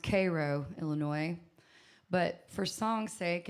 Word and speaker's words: Cairo: Co is this little town called it's actually pronounced Cairo Illinois but for songs sake and for singing wise I call it Cairo because that's how it's spelled and anyways it's